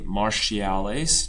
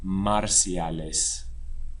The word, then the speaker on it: marciales: lases marciales repes marciales English speakers be careful not to say martial don't try to grab that English pronunciation marciales or in Spain marciales Ares marciales practicas AER